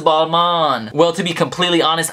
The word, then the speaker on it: Balmain: hold up I know I just said ball main I know a lot of people are probably freaking out right now because they're like ready to comment and say oh no it's pronounced Balman well to be completely